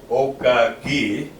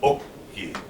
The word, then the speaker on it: oki: So we're not going to be saying, in this case, we're not going to be saying okaki. We're going to be saying oki.